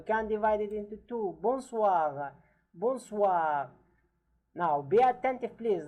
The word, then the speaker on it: bonsoir: Bonsoir. Bonsoir. Now, be attentive, please, that the O-I letters in French are translated wa, are pronounced, sorry, wa, wa.